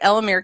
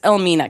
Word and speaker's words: Elmina: It's like, oh, we're at Elmere Castle. I'm sorry, I pronounced it wrong. It's Elmina Castle. And the caption says, oh, the first place they visited is Elmina Castle, and they're learning about the historical significance of this place.